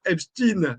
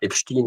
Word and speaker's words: Epstein: me fait rire effectivement Epstein, c'est la prononciation américaine tout simplement. Donc ou même sa prononciation allemande en fait si on si on veut reprendre les choses. Euh voilà. Donc il faut pas y voir une question autre que que de question d'accent et de prononciation à l'international.